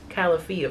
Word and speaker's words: Califia: So this is the Califia, please forgive me if I'm saying this wrong, Califia Farms matcha almond latte. Oh, that's so that's funny, they tell you how to say it on the back. Califia Farms.